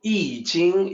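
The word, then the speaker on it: I Ching: a book transformation is change or changes so eating is the way it's pronounced let me also let me also make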